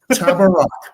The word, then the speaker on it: Tabarrok: Sound it out. Tabarrok, like it is phonetic.